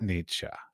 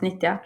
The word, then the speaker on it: Nitja: So like if somebody were going to propose a solo show at Nitja, did I pronounce it correctly? Almost Nitya. Oh, so close.